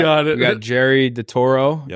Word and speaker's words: DeToro: We got Jerry DeToro. Yep.